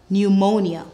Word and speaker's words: pneumonia: be looking at PN when you see PN in a word the p is silent PN says n let's go ponia pneumonia newmatic pneumatic new mology